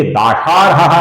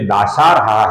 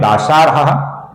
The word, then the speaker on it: दाशार्हः: फिर नाम है दाशार्हः, इसमें श है, श नहीं है, तो ये दाशार्हः नहीं है, ये दाशार्हः है। जहां पर श है उधर हमें श का ही उच्चारण बहुत ही सटीक तरह से करना होता है दोस्तों।